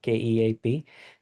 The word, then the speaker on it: Keap: They pronounced KEAP, KEAP.